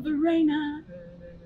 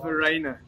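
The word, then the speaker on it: Verreynne: in my head that's on My Sharona Kyle Varina that's a good find song man you know but it's you're saying it's actually the rain well on the swan belt there you have it it's called Verena okay one for me thank you all right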